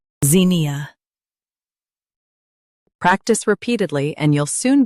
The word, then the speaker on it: Zinnia: Emphasize zin and soften ia. Zin, E, ZINNIA.